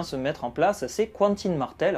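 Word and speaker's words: Quentyn: mettre en place ces cantines martel alors ça s'écrit quentin avec un y mais je dis cantine parce qu'on dit aubry n'a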